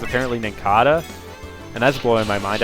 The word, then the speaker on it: Nincada: wrong, like it's apparently Nincada, and that's blowing my mind. I've been pronouncing it like Nincada for like 15 years now because it's like based off of a cicada, so it's gonna take